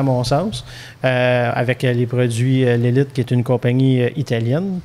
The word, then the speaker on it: Lelit: Donc, maintenant, pour aller chez l'Élite, est-ce que je le prononce comme faux? L'Élite? Oui, parfait.